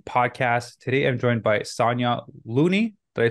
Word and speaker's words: Sonya Looney: the fit vegan podcast today I'm joined by Sonia Looney did I pronounce it right yep Sonia lasagna vegan lasagna